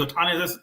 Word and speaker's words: Ohtani: I think it's Ohtani. That's how you say his name, where he can hit and pitch.